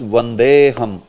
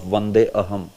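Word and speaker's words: वन्देऽहम्: So it is pronounced as Vandeham instead of Vande Aham.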